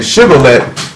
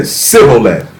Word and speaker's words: Shibboleth: Because instead of saying Shibboleth, he said Sibboleth. Same word, different pronunciation.